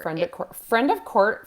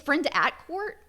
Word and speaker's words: Friend at Court: It's Friend at Court is actually how you say it. Not Friend of.